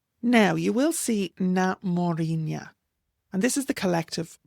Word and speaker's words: Mórrígna: So na Mórrígna is the correct use and it names them collectively.